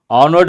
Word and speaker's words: honor: honor at Music Academy honored again you have to focus what is the reason the first letter H is silent we say an honor